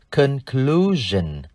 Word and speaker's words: conclusion: Chúng ta sẽ thêm đuôi S-I-O-N để tạo thành danh từ conclusion. Conclusion. Đuôi S-I-O-N chúng ta đọc là gen.